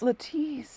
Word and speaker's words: Lettice: And listen, in this book, it's spelled with an I. Like Lettice. Lettice. Like Leticia, which is a real person.